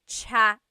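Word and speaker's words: tsaa: that you drink and it's spelled TSA a cha cha that's such a talog spelling I love it there's the TS sound and then the double vowel uh pronunciation cha it's so talog yes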